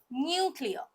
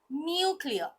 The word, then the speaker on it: nuclear: many different pronunciation but what is the correct pronunciation nuclear nuclear next is Salon but what is the correct